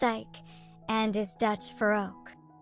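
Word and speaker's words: Eik: after him the name of Ike which is pronounced Ike and is Dutch for Oak when before his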